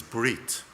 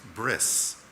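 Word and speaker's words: ברית: words in our tradition the first word is breit which means Covenant it's sometimes pronounced bris bris does not mean circumcision bit Mila Mila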